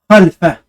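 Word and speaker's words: خلف: Donc, soukoun, on ne prononce pas le lemme. On ne prononce pas avec une voyelle, mais sans voyelle. À moitié. Khal. Khal. On ne dit pas khala, khali. Khalfa.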